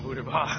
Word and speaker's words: Buterbaugh: Booter. Buter. It's Buter. I'm gonna spell it how I'm gonna spell it. Buterbaugh. It's spelled B-U-T-E-R Bah. B-A-U-G-H.